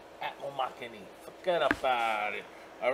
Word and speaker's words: Atmomixani: Atmomixani. That's how simple you say his name. Atmomixani.